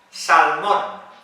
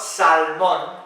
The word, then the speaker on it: salmon: Salmon. The fish. Well, in English, la L no se pronuncia en esta palabra. So it's not salmon, it's salmon.